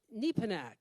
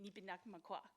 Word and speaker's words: Nipinakmakwa: I should just let you know that you're basically fighting a losing battle because everybody pronounces it wrong. It was anglicized many, many years ago and as actually Nipinakmakwa.